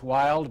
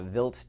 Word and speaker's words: Wild: uh was visited uh we would say in English wild but in German it's Vil that's right uh so